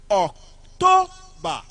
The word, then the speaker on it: October: October on the second syllable.